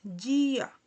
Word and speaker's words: dia: Entonces, aquí se dice, podemos leer día, pero no, se lee correctamente en portugués dia.